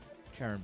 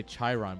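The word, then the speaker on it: Charon: goliaths in the range Karen boosters oh I was close I want to say Chiron boosters but that's not how you pronounce that so for anyone who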